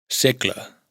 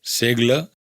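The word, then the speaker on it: segle: Secla, siglo, no es segla, sino secla.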